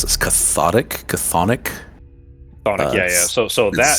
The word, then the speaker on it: chthonic: It's I don't know how to pronounce this. Chthonic. Chthonic, yeah.